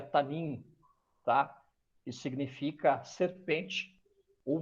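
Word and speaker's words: תַּנִּין: Esse termo é ela vem de uma tradução hebraica que se pronuncia tanim, tá?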